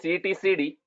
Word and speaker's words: etcd: form for that okay it is pronounced as e t c d so it's a database